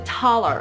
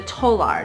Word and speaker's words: taler: So he developed the taler, or the tolar, depending on how you pronounce it.